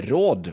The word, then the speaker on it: råd: So here you will see that we will need to say råd, or else it sounds for advice, or else it sounds like we say raw, right?